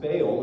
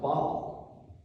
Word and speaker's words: Baal: Now, you may have heard this name pronounced Baal in the common English way, but it's pronounced Baal.